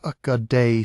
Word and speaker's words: Ögedei: Ögedei Khan, pronounced Ögedei, son and successor of Genghis Khan, died in December 1241.